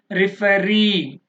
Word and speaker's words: referee: Referee, referee, last one.